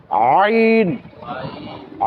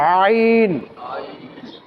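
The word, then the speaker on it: ع: থেকে উচ্চারণ করা হবে হলকের মধ্যের অংশ থেকে উচ্চারণ করা হবে অর্থাৎ হলকটাকে মধ্যখানে একটু দিয়ে উচ্চারণ করতে হবে আইন আইন অর্থাৎ কণ্ঠনালীকে চেপে উচ্চারণ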